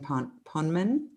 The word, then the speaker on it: Poneman: Bruce Pavitt and Jonathan Poneman. Is that how you say it? Poneman. Poneman.